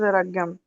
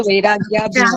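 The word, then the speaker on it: वैराग्याभ्याम्: सही सही अभी तक एक भी नहीं आया शुद्ध उच्चारण के साथ। अभ्यास वैराग्याभ्याम। हाँ तो वैराग्याभ्याम। वैराग्याभ्याम। अभ्यास वैराग्याभ्याम, वैराग्याभ्याम, यस। ध्यान, हाँ, अभ्यास वैराग्याभ्याम। देखिए बिंदी है, भ्याम, वहां ऊपर बिंदी है, ध्यान नहीं है।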